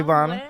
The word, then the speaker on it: Bonna: pronounce it? Bonna Bay, yes. Bonna Yes. Bonna what? It's Bonna.